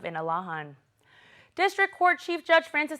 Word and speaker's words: Inalahan: Senator Telo Taitigui to officially change the name of Inarajan to its Chamorro pronunciation of Inalahan.